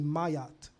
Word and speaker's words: Maat: it written that's why the most correct way to say Maat is actually mayat in the uh Comm IC tongue this arm gives you